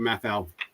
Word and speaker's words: Mafell: Am I pronouncing that right? I don't know. Mafell. They make a track. He was asking me about it last week, and I've never heard of it. Mafell's you're pronouncing it right.